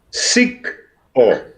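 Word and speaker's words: Sicko: Sick O. Se escribe S-I-C-K, que quiere decir enfermo en inglés.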